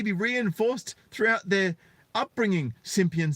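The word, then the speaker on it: Cimpian: NYU Associate Professor Andre, it's spelled Cimppian, but I get great joy out of pronouncing that Simpian, says boys may be less likely to recognize benevolent attitudes as patronizing.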